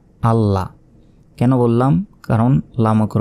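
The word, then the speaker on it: الله: তাহলে দুইবার কীভাবে উচ্চারণ করব? বলতে হবে হামজা লাম জবর আল, লাম জবর লা, আল্লাহ।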